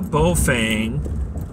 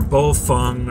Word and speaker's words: Baofeng: handheld there's a brain called Baofeng or both Fung or Bao phone or I've heard pronounced multiple ways the model is a